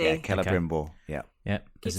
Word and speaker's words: Celebrimbor: Keller, is it? Keller, yeah. Hard C. Yeah, Celebrimbor.